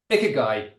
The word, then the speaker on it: ikigai: I hope we're pronouncing it well. Ikigai. Ikigai, that's it.